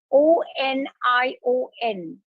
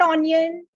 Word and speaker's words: onion: tastes excellent and that's o n i o n it's not onion it's onion it's not